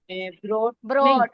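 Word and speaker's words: brought: हां very good बोलो इसमें जो जी एच है ना वो साइलेंट है जी एच कहीं भी दरमियान में आ जाए तो साइलेंट होता है ठीक है ब्रॉट ब्रॉट आर भी बोलेंगे ब्रॉट अगर बोट बोला तो वो खरीदने की आ गई खरीदना बाय बॉट बॉट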